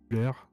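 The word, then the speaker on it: Ullr: s'appelle Uller, et ça s'écrit U2LR.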